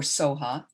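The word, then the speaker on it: svaha: i was taught and the reason it's the v can be silent is the tibetans don't have a v in their language so this is from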